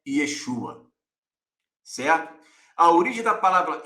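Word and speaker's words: ישוע: e o tetragrama porém todos os que conhecem da linha Hebraica dizem que a pronúncia correta é Yeshua certo a origem da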